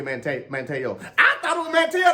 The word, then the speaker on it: Manteo: So eventually one day, I think NBC, they wrote it out phonetically and they forgot to actually write my name out like Manteo. Mm-hmm. They wrote it out phonetically like MANNY-OH. And then that said Manny O on TV.